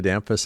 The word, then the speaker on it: Damphousse: Additionally, could you offer guidance on the correct pronunciation of your last name? Thank you, Tyson. My name is Dampus.